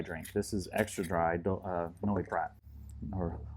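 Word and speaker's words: Noilly Prat: This is extra dry, Noli Prat, or Noli Pro. How do you say in French? Probably don't say the L.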